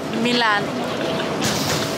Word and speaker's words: Milan: Say it like Salma Hayek. Milan.